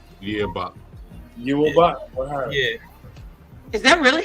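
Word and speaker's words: Yhwach: Yawat. Yawat? Yeah. Is that really how you pronounce it?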